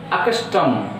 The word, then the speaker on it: accustom: As per our rule, if the trisyllabic word starts with the prefixes, stress is on their second syllable, so that I itself is the first syllable and second syllable starts from the ka, so that is C.